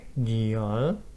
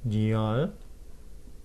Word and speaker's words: 女儿: 딸 女儿 뉘얼, 女儿 뉘얼, 딸 女儿 뉘얼.